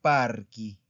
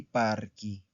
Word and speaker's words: parchi: No se pronuncia chi, se pronuncia ki. Entonces sería il parco i parchi. ¿Ok? Il parco i parchi.